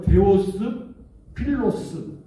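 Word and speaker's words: Θεόφιλος: 데오빌로 이렇게 되어 있는데 두 단어지요 데오스 필로스 데오스 필로스 이제 우리 식으로 발음해서 데오빌로 이렇게 발음을 하는 건데 여러분 데우스는 뭡니까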